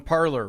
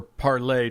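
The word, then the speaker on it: Parler: the big discussion on parlor right or parlay depending on how fancy you want to pronounce it so yeah I mean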